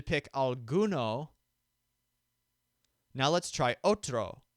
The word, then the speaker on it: otro: aluno now let's try otro which means other the stressed syllable is oat imagine your character looking